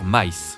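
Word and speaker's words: Kamen Rider Mice: Camen Rider Mice. Le nom s'écrit comme M mais se prononce Mice comme le nom de la souris en anglais.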